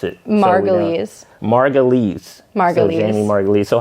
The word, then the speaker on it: Margulies: How do you pronounce it? Margulies.